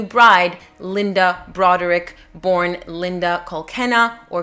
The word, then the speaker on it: Kolkena: linda broderick born linda kolkena or kolkina they pronounce it as kolkena in the series so that's the pronunciation